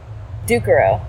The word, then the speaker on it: Ducarroz: Ducarroz. The Z is silent. The Z is silent. Yep. Has it always been that way? It has always been silent.